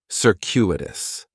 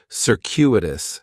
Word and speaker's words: circuitous: like is circuitous and circuitous has four syllables and there's a few things going on with the pronunciation in the first syllable that c is going to have more of an S sound circuitous the stress is going to be on that second syllable and that CU is kind of like you're saying the letter Q circuitous circuitous circuitous is